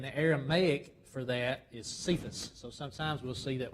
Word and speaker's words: Cephas: know the in the Aramaic for that is sephus so sometimes we'll see that word c-e-p-h-a-s cephas